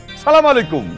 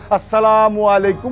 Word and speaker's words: আসসালামু আলাইকুম: সালাম আলাইকুম। হ্যাঁ, আবার অনেকে কি করে জানেন? সালকুম সালকুম। আরে বাজান, সালাম দিবি ভালো কথা, সেটা শুদ্ধভাবে দে, শুদ্ধ উচ্চারণ করে দে, আসসালামু আলাইকুম ওয়া রাহমাতুল্লাহি ওয়া বারাকাতুহু। জ্ঞান বুদ্ধি নাই, চলে তো উল্টা পাল্টা, বোঝেন না?